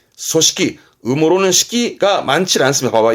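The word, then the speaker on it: 組織: 조직 발음은 소식기. 소식기.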